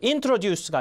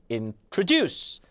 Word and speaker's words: introduce: event 이것도 introduce가 아니라 introduce 강세.